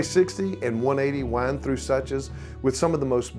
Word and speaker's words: Suches: Suches, pronounced Suches, not Suches.